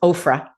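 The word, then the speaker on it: Oprah: So here's this pastor, Justin Bieber's pastor, and with Ofra. That's the pronunciation I use.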